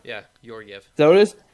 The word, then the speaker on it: Georgiev: I don't know how to pronounce his last name. Georgiev or Gorgiev? Yeah, Georgiev.